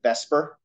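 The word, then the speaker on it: VSEPR: electron pair repulsion um it doesn't look like it if you sound it out but that acronym we pronounce it Vesper because it's easier to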